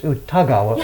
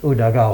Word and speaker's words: Udagawa: So every time when you meet new people, they think it's Utagawa, and you have to ask them Udagawa.